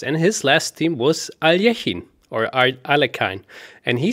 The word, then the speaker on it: Alekhine: that be yeah yeah sometimes even even russians sometimes pronounce it as aliajin the real um as far as as far as i know the the real uh last name is alejin alichin okay okay yeah